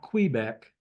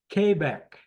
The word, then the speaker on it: Quebec: Quebec. Not Quebec. Quebec.